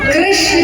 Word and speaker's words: कृष्ण: कृष्ण क्या रखा गया कृष्ण कहने में जीव घूमती है बोलो घूमी जिसकी नहीं घूमी गलत बोल तो सच्चाई है उच्चारण अगर आप सही करेंगे तो जी घूमती है भगवान का र कृष्ण